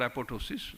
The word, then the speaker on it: apoptosis: or it is called apoptosis uh p is silent so initiators there are